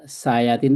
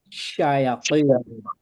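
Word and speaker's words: شياطين: Kalau kita membacanya sayatin itu kayak kayak sa, itu beda. Juga tadi saya dengar Saukat kamu sayatin, bukan sayatin, bukan sa, tapi to. Saya Jadi saya saya syayatin, ti, ti, saya dihim.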